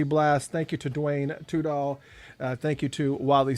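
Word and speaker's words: Tudahl: that's spelled d-u-a-n-e and two-doll is t-u-d-a-h-l uh it's a traditional spelling of two according to him don't forget that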